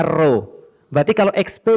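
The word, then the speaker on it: ρ: Bacanya ro.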